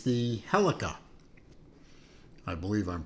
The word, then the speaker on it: Helica: I'm going to call it Helica because it kind of is spelled similar to uh Celica, which is an old uh Toyota model line from way back.